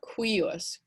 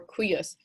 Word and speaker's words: cuius: remember which one but if you imagine this cu to be a q u i think you'll find it easier to pronounce so instead of q